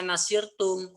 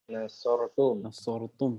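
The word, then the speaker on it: نصرتم: adalah merupakan sekawan fa'ala, maka tidak boleh dibaca nasirtum atau nasurtum. Tapi dibacanya harus satu, yaitu apa? Nasortum. Nasortum.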